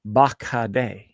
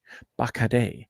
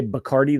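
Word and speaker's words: Bacardí: and I went to the factory and it's pronounced bakad bakad if you say bardi they make fun of you as a white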